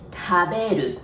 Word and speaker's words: 食べる: Okay, so casual original way is 食べる. Remember, we don't have R sound in Japanese, so we pronounce it like L, right?